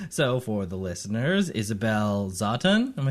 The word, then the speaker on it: Zawtun: It's Zatun. It's a tonal language that I was not taught.